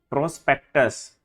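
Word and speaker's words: prospectus: प्रोस्पेक्टस, PRSPS, के को silent कर दिया।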